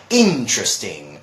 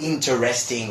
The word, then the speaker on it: interesting: keep telling my students, no, it's not interesting or something like that, it's interesting. Interesting, right? So that's the way we pronounce it.